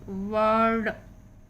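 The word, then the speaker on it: bird: वर्ड उच्चारण है, यहाँ पे आई का साउंड नहीं हो रहा है, साइलेंट है, या कहें आ के रूप में है।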